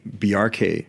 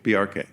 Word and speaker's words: Bjarke: I normally explain it like there's a reference to Bork because it's a similar BJ. Yeah. But the symbol hack, just like you would say FBI or CIA, you pronounce every letter in the acronym. Say the acronym BRK quickly.